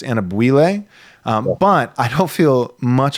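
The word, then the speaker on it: Anyabwile: I always call him Anabwile, but I'm pretty sure it's pronounced Anabwile.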